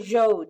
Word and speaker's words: Zhou: Then are the Shang and the Zhou dynasties, to pronounce them correctly.